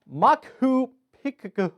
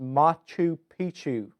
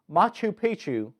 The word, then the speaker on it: Machu Picchu: two one you got to guess it is makuu pika whoo pepper ooh it is the MA Koopa